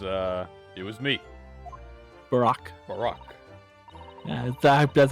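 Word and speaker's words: Barok: instead it was uh it was me barack barack that's how you pronounce it okay and i'm not pronouncing any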